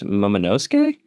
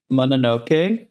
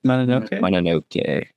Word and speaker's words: Mononoke: Next week is Princess Momonosuke for Studio Ghibli, correct? Mononoke. Mononoke. There's 2 N's.